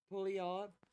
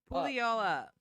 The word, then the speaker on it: Puyallup: In a crazy Washington State pulley off. What? Pulley off. Pull y'all up. Pulley off. Puyallup. Do you see that? Yeah. Bring it back.